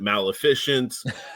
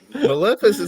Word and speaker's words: Maleficent: lot of the guys either couldn't like ma Maleficent was one of the hardest ones apparently because everybody kept calling it Maleficient Mal efficiency and stuff like that I'm like Maleficent is not that hard or not there was